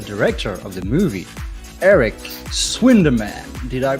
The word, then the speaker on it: Swinderman: me and the director of the movie eric swinderman did i say that he pronounced that well yes yes you said it